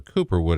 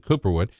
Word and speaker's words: Cooperwood: Ollie Cooperwood, or Cooperwood as I call him, basically, because that's the way you say his name, Cooperwood.